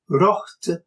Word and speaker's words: wrohhte: So the O of bok, meaning book, is long, while the O of rocht, meaning wrought or made, is short.